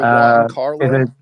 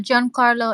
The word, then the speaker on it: Giancarlo: Is it Juan Carlo? Juan Carlo Esposito. Oh, Giancarlo Esposito. That's the one.